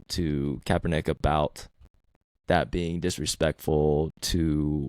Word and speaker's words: Kaepernick: from both and when Colin kaeper neck keep saying neck I know how to say his name Kaepernick um started kneeling and